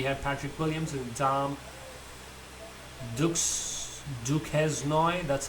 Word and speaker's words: Duquesnoy: Then we had Patrick Williams and Tom Duquesnoy, that's how they pronounce him.